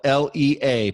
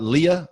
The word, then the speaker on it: Lea: That's spelled Lea. People say, is that Leah? I say, only if you drink Tia.